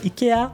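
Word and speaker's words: IKEA: by buying a vacated Ika as I'm Swedish is the right pronunciation nadaka Ika and building a 16,000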